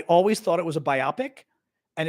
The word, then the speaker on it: biopic: was um a film a biopic is not a biopic it's a biopic b o p i c I always thought it was a biopic and it's a biopic